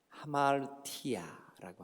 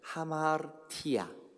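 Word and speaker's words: ἁμαρτία: 5가지나 되는데 그 중에 제일 많이 쓰이는 게 뭐냐 하면 하마르티아라고 하는 말이에요. 한번 따라해 보실래요? 하마르티아. 그 하마르 할 때 르는 발음이 되는 동 마는 동 하마르티아 이렇게 하거든요.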